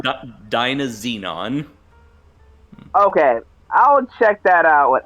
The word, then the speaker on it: Dynazenon: My recommendation is to go watch Dynazenon and Gridman instead.